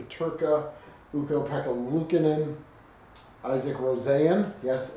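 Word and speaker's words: Rosén: Owen Power, Jack Quinn, JJ Purka, Uko, Pekka, Lucinan, Isaac Rosanne. Yes, it's pronounced Rosanne, not Rosen.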